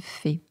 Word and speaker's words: Fäh: En réalité, mon nom se prononce Fay. Il y a un petit tréma ou un petit umlaut pour les connaisseurs sur le A, parce que mon nom de famille est d'origine multiple, suisse, allemande, italienne.